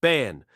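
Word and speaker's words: Barn: It appears that the contents were notes written by Rouse Burn, pronounced Ban, who was the founder of the vertical bar, Kamyama, Vertical Bar, Great Labyrinth.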